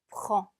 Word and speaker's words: prend: 자, 빼, 에르가 같이 붙어서 소리가 나기 때문에 입술을 붙였다가 떼면서 에르 발음을 내주시면 됩니다. prend.